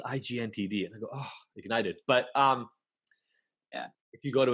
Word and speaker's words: IGNTD: So Ignited is spelled IGNTD.